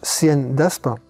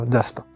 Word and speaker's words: cnDAspe: aussi on est déjà ça se prononce cn d'aspin ou plus simplement d'aspin et il s'agit de